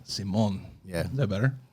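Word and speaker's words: Simón: It's like we put the accent on the O, like Simon. Simon.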